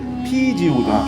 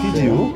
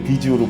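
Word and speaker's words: 啤酒: 이제 비어, 예, 그러니까 정확한 중국 발음은 이제 피지우거든요. 피지우. 예, 근데 이제 우리가 이제 한문으로 써놓고 보면 이제 비지우로 보이고 이제 백주는 저희가 말하는 이제 고량주를 말하는 거고 중국 사람들은 이제 그 바이주라고 네.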